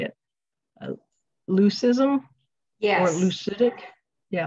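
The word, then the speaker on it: leucistic: Leucism? Yes. Or leucitic? Yeah, leucitic.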